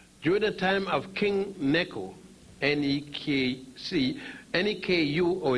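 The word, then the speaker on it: Necho: During the time of King Neku, N-E-K-U, or it's spelled sometime N-E-C-H-O, the second, and that would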